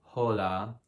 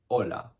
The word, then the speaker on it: hola: important information is that the h if you see it is always silent it's obviously a super rookie mistake to say like hola everyone knows it's hola hola next we got enye